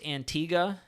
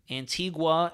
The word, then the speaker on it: Antigua: live for five hours an Antiga is pronounced Antiga is it really Tia Antigua Antiga huh I never knew that I've been hearing everybody say Antigua so that's good to know